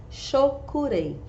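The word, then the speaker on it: Cho Ku Rei: Pronuncia-se, Shokurei.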